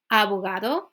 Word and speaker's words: abogado: it's not abogado okay I noticed a lot of my students they like to say the last letter like a really hard o is O short and simple like that so Avogadro Amigo organization